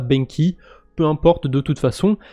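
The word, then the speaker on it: BENQI: sur la blockchain avalanche il me semble que ça se prononce benchi et pas benky peu importe de toute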